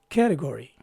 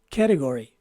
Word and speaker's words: category: o sound and finally the letter y takes a long e sound so once again this word is pronounced as category again category this is our word